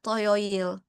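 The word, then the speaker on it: 토요일: Selanjutnya untuk Sabtu, nah Toyoil.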